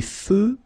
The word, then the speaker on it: feux: Des feux de circulation. So here, final X, not pronounced.